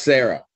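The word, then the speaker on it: Sarai: So is it S-A-R-A-I? Yep. But it's pronounced Sarah.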